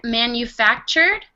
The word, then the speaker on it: manufactured: And pronunciation, for this word, manufactured, this combination, TU, sounds like this. Chew. Okay, so we can pronounce it manufactured.